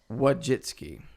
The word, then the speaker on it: Wojcicki: Susan Wojcicki.